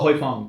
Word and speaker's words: Huy Fong: Oh, Huy Fong.